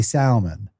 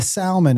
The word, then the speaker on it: salmon: you used to say Salman and I was like hey there is no that the L is silent she was like but